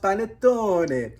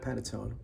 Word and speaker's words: panettone: And it's pronounced Panettone. I embarrassed myself calling it Panettone.